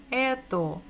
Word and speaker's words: это: So ch, t, o, что, это, что, это.